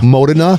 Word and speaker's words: Modena: Yeah, let me talk real quick, because it was in Modena? Is that how you pronounce it? Modena.